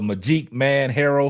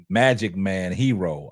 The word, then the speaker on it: Magi Man Herrow: hey shout out to Magi man herrow for the $10 Super Chat phonetically my name is pronounced Magic Man hero I'm sorry Magic Man